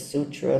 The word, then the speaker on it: sutra: Sometimes it's sutra, sometimes it's suta, s u tta.